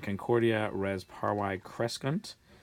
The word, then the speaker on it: Concordia: mmm grow with harmony Concordia with a long a alright here's a third